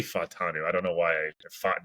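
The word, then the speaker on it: Fashanu: I've been saying Fontanus, or so I was always saying like the emphasis on the back part of the world, but I guess it's Fatanu.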